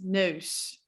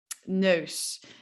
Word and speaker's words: neus: Okay, sound number 4 that is a little bit weird is oh. I kind of feel like a seal. It's like oh, or like a dog, I guess. But this is definitely a sound that we use in the Dutch language. For example, if we're trying to say nose, it's neus, neus.